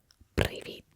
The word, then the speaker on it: привіт: In Ukrainian, hello is привіт. Привіт. The rolling of my R's might be too much, but there is a roll in there, okay? It's just slight. Привіт.